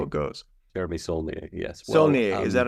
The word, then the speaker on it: Saulnier: Saulnier, is that how you pronounce his name?